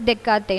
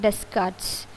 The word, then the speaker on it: Descartes: Then next point, psychology was influenced by René Descartes and it's pronounced as Descartes, not Descartes.